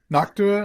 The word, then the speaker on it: Noctua: Knock to Noctua. I don't know. What are they called? Noctua. No, you said it right.